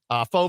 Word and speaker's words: pho: it's not pho, it's pho. It's pronounced pho.